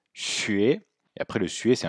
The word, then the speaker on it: xue: Alors, le U, derrière le X, le Y, le Q et le J, il se prononcera U, sinon il se prononcera OU.